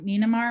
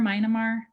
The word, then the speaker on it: Myanmar: you'll go back to i say it wrong nynamar myanmar yeah myanmar yeah i